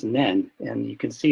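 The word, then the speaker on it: 念: So that this kanji is one that comes from it's pronounced nen, and you can see how it's made up of two parts, now and the heart.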